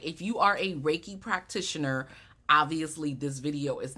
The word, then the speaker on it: Reiki: I get asked about raiki all of the time what is raiki Rocky re Rey you know uh a lot of mispronunciations right it's something that you